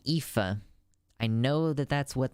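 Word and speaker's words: Aoife: like you know if i see the name ifa i know that that's what that means and if you know how ifa is spelled you would be shocked to know that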